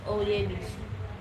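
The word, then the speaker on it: Oyebisi: How it's pronounced? Miss Oyebis. Oyebis. Miss Oyebis.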